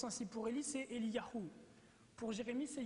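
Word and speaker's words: אליהו: du nom de Dieu et leur nom se prononce ainsi pour Ie c'est Eliahou pour Jérémie c'est yeremiahou et et donc le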